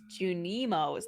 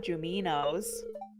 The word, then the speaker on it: Junimo: I've been saying it wrong the whole time. It's Junimos, not Juminos.